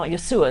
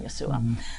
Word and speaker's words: Yeshua: I found Jesus and you know Yeshua is what how they say it. It means salvation Yeshua.